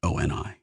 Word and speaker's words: ONI: He pronounced it ONI.